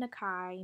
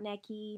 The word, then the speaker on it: Nakai: to pronounce the name it is cameron nakai not necky not i don't know what else you could think of it it's nakai cameron nakai nakai's my